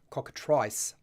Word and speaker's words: cockatrice: ice then the the eye gets the I sound rather than the e sound so cockatrice ice i ice e at the end ice um for those of you in North America might be pronouncing it slightly differently maybe I'm Incorrect and how that is supposed to be pronounced but I'm going to go with it's cockatrice rather than cockatrice okay now that will